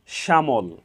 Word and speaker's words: শ্যামল: এখানে একারান্ত উচ্চারণ হয়েছে সহজভাবে বলতে গেলে যদি শব্দের প্রথম বর্ণের সাথে জ ফলা সংযুক্ত থাকে তাহলে সেই বর্ণের উচ্চারণে সামান্য শ্বাসাঘাত পড়ে এবং একারন্ত উচ্চারণ হয়ে থাকে অ্যা একারন্ত উচ্চারণ হয়ে